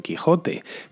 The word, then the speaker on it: Quixote: como ese h pero si por ejemplo leemos don quixote don quixote y realmente tenemos que leer don quijote es más hay muchísimas